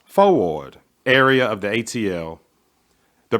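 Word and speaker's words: Fourth Ward: These churches were all in the 4th Ward, pronounced Fo-Ward, area of the ATL.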